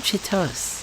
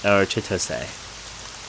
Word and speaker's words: Chitose: Is it Chitos or Chitois? I think it's Chitos. It could be Chitos, but I think it's Chitos. Chitos. Maybe. I don't know how to pronounce my own name. Chitos. How old are you? You mean my age? It's apparently Chitose. Okay, I'll try to say like Chitose.